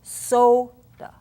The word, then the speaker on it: soda: that word so it's in an unaccented syllable let's watch it goes soda soda now it becomes the sound of a you soda soda unaccented the accents